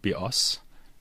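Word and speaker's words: βιός: life in Greek, and the word bios, with the stress on the second syllable, means bow, as in bow and arrow.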